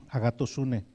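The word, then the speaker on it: ἀγαθωσύνη: Bueno, esta palabra bondad de Cristo es una palabra que se pronuncia en griego agatosune.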